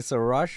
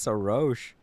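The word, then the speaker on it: Xilonen: pronounce her name it's SOS so I was saying SOS all this time it's SOS all right well good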